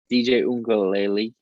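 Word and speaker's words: DJ Uiagalelei: DJ Ungalele.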